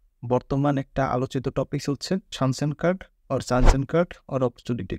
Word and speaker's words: Chancenkarte: card or opportunity card আসলে German ভাষায় যদি আপনি জানসেন কার্ড উচ্চারণ করেন তাহলে এটাকে বলা হয় সানস্যান কার্ড এজন্য এটাকে সানসেন কার্ড বলা হয় এটা চান এন্ড কার্ড না আর ইংলিশে যদি